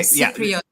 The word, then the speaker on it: Cypriot: Okay, Cypriot. Yeah, that see, you almost mispronounced it.